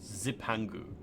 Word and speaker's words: Zipangu: to the land of Zepangu. Zepangu. Zepangu. I guess it's not a a Japanese word. So you don't have to call it like you don't have to pronounce it Japanese style. It's like zipangu.